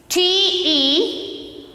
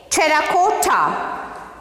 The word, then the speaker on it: terracotta: How to pronounce this? See here. T-E-R-R-A-C-O-T-T-A. double R A C O double T A. See here how to pronounce this? Terracotta.